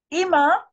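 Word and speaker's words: אִמָּא: is my brother okay imma she's imma she's my mother imma is my mother now look I'm saying e not I that is a d thong i e i i i pronounce it IM my mother Ima uh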